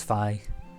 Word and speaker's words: Phi: name I was given I'm going to pronouncing it like that other than rather than fee and scene I've heard people say that I always read it as Phi so deep same violence